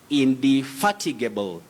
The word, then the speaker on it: indefatigable: Then Sami Mwada, you say indefatigable, indefatigable.